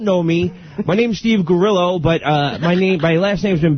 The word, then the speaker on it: Grillo: And for those of you who don't know me, my name's Steve Gerillo, but my last name's been bastardized over the years to Grillo.